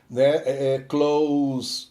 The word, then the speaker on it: close: exemplo com Crowns e close close com som de s no final é É próximo né o advérbio né E quando é Close